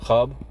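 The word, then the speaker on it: خواب: आगे बढ़ते हैं, इसके बाद क्वेश्चन नंबर 99, जिस लफ्ज़ में वाव साकित होता है उसे क्या कहते हैं? यानी कि साइलेंट होता है, उसे हम लोग वाव मादुला कहते हैं। जैसे ख्वाब, दरख्वास्त, ख्वाहिश, तनख्वाह, इनमें जो है वो वाव मादुला है।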